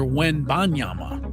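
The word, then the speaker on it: Wembanyama: Victor Wenbanyama. There is an N in there. People don't pronounce that very often.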